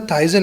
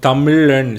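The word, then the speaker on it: Tamizhan: But why is it spelled with the Z? I was calling it Formula Tyson. I'm like, Formula Tyson is my friend. Like, repping the South. Yeah. So Tamilan. So Tamil has like 3 alphabets for the word la.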